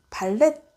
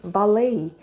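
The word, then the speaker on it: valet: 발레파킹이라고 생각을 하시죠 그래서 발레 발렛 이렇게 많이 읽으시거든요 티 발음을 많이 하시는데요 사실요 발음은 말레이 말레이 요렇게 발음을 하거든요 그래서 이게 발렛이라고만 알고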